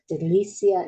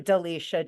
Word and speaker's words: Delicia: have for my guest delisia now did I pronounce that correctly it's actually Delicia just like Alicia okay I knew I